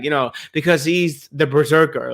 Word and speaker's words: BRZRKR: keanu reeve says like it's pronounced berserk but it's spelled b r z r k r just to not get